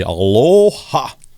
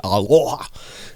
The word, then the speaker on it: aloha: As we say in Hawaii, aloha, which we don't really say it like that, but we say aloha.